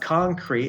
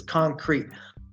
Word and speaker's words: concrete: It's not silent, because if it was silent, it would be "concre". And it's not "concre", it's "concrete". Like a sudden, like slamming the brakes on your car before you hit the "t".